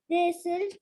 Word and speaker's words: decided: boys decided to stop. The boys The boys. decided. The boys. We pronounce C as because there's I after C, right?